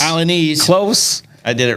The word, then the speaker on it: Alaniz: So Ernesto Alaniz. So am I saying that right? Alaniz. Alaniz.